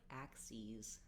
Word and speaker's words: axes: axes disease and so even though it's spelled the same as the axes the tool axes as an e tense e sound in the second syllable so it also has the z sound that's how it's different from here from axis um okay so it